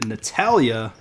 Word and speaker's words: Natalia: But I am back with another interview here, and I'm super happy about having Natalia on here. Hi. I'm assuming, is that the correct pronunciation?